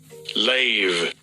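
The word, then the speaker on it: לֵב: Lave. Okay, that's the Hebrew pronunciation of the word heart.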